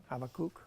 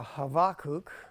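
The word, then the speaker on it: Habakkuk: habakuk okay um is the correct way to pronounce habak is the is like it's a half bow so you got to get off it really quick um is cook okay and it means embracing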